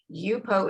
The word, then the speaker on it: Yupo: By the way, for anybody that is not familiar with it, Yupo is spelled Y-U-P-O, just the way it sounds.